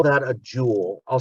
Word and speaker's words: joule: a newton meter and we call that a jewel i'll spell it for you j-o-u-l-e for james jewel okay